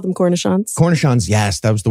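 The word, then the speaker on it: cornichon: delicious I love cancer gerin I call them cornishon cornishon yes that was the word I was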